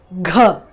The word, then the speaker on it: घ: The first one is Gha. So this letter itself is Gha. Previous video when we did the letter was G, G-A, and this is G-H-A, where you give more pressure.